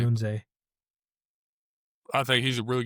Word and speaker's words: Odunze: How do you say his last name? Odunze? However you say his last name. I say Odunze.